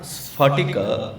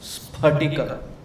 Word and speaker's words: sphaṭika: In Sanskritam, there is no syllable which pronounces as fa. It is not sphaṭika, it is sphaṭika. It is not pa, fa, ba, bha, ma. It is pa, pha, ba, bha, ma.